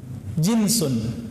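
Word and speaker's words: جِنْسٌ: Jinsun, jins. Pakai jins nggak Pak? Itu beda lagi ya. Jins itu bacanya ya.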